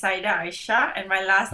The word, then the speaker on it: Aisyah: attention all right so is your name pronounced Aisha yes with an so an sh sound like Aisha yes beautiful and say